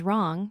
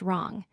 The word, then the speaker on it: wrong: The third word is wrong, pronounced wrong. The fourth word is wreck, pronounced wreck. In each of these words, the w is silent, and we only hear the R sound followed by the other letters.